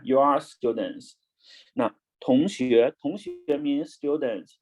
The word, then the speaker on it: 同: Okay, the Chinese means 同. Now everyone, you must know the how to read pinyin. T, right? Top. On, ong pronounce on going up. 同.